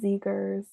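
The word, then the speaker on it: Zegers: I should also know I've been saying his last name wrong I'm sorry Kevin I love us I love us yeah we're so unhinged sometimes yeah it's Zagers so um that's how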